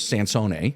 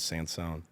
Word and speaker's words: Sansone: My first to say your last name to pronounce it correctly was Sansone. Yes. Right. And of course, it's that coming to America everything changes. Last name changes, pronunciation, etc. American adoption was sans son. I love it. But it was sone.